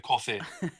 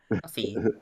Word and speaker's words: Ko-fi: ad for it, and I totally pronounced it Ko-Fi. So Yeah, I don't know. the way they spell it like on their site is KO-FI, so it looks like Ko-Fi. Yeah. But I'm sure just it's supposed to be coffee.